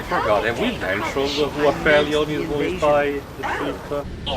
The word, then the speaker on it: Aphelion: I think Ratchet pronounced it as Aphelion, but... Aphelion, yeah, there we go.